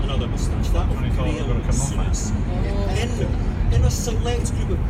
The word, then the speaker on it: Souness: Souness, Souness, Souness. Who really knows? But yet again, who really No one has ever said soundness until you just said it.